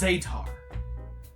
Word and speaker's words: Zetar: ] it's pronounced zetar I can't believe it